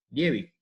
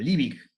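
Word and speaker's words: Liebig: esta quecata Acá cerquita Levi en realidad se debe mencion debe pronunciar algo así como livic o algo así pero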